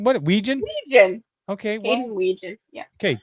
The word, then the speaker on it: Wetjen: There is a signing of Mark Gronowski and Caden Wedgen at the JCD and Hobby. What? Back up. Say his name right. Wetjen. What's his name? What? Wetjen? Wetjen.